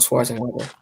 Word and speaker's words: Schwarzenegger: arnold schwarzenegger arnold schwarzenegger arnold schwarzenegger that's how you pronounce it yeah arnold schwarzenegger i never knew